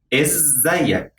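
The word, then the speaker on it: إزيك: first question is isaiah is zayak there is a double z here is means how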